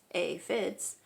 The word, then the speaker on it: aphids: pretty sad day when the aphids pronounced a fits arrived they are some